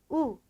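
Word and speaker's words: u: 그 다음에 나오는 철자 알파벳은 우 가보도록 할까요? 우 가보게 되면 얘는 우 소리 그대로 나게 되는 모음이다 라는 것을 아실 수가 있고요.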